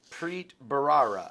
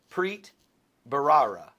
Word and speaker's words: Preet Bharara: you guys and and this is how you pronounce this individual's name uh here we go prit barara let's say it again PR barara that's close PR prit barara and I'll put the bar I'll put the